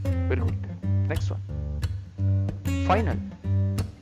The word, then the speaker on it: final: Next one, final. How to pronounce in Spanish language? Final. Final. Final. Letter I, always E sound.